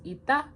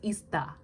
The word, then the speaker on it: 있다: To be there, to have, to exist is 있다. You see the sound change rules. See, the sound change rules matter because if you didn't know, you'd pronounce it as 있다. It's 있다.